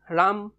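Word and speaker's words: राम: কি বলি কয় রাম সংস্কৃত কি বলি কব রাম রামা এটা এই রাম ওয়ার্ড টু লিখুটে আমি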